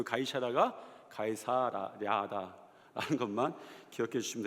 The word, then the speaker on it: 가이사랴: 하리로다 발음만 못 하는 줄 알았더니 가이 사라도 발음을 못 하더라 아 그래서 일부 때도 굉장히 굉장히 당황했습니다 가이 샤라라 해도 혹시 이해를 해 주시고 혀가 그렇게 안 돌아가요 가이사랴 하면 되는데 이거 한번에 붙이면 가이샤라 뭐 이렇게